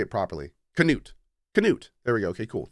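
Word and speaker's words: Knut: doing the last few months, or I am K-Nuts? Is it K-Nuts? Or I'm hanging with my family. So how do I properly pronounce his name? Is it Newt? I want to say it properly. Canute.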